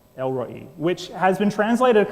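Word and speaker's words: El Roi: say R oi Roy and most people would pronounce it l Roy which kind of sounds like a dude from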